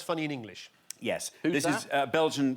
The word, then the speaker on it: Ye: It's pronounced "yay", is it?